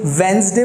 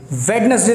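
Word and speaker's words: Wednesday: तो आप लोगों को बता दूं, इस शब्द में आपको डी को साइलेंट रख के बोलना पड़ता है. इसके दो साउंड हैं. आप इसे वेंसडे बोल सकते हैं या फिर वेंसडे, ज या फिर स. वेंसडे या फिर वेंसडे. वेडनेसडे तो बिल्कुल भी नहीं.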